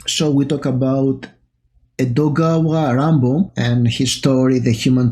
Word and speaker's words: Edogawa Ranpo: different and very disturbing dogawa rambo is a pseudonym for japanese author it's the japanese way of pronouncing edgar allen poe so it's probably and